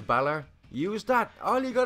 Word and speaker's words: Bálor: be like no that it's clearly Barlow you're not pronouncing the father on da where is the father labs and of course obviously EE ain't gonna pay - - this kind of stuff but as an Irishman it's like oh god no now the original guy's name was Balor use that all you